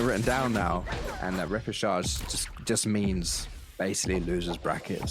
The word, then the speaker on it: repechage: finding yourself in that lower bracket, in the repechage, as it's called, which I also looked up. Is that how you pronounce it?